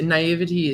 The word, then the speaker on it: naivety: A lot of people say naivety is okay. Naivete is also okay.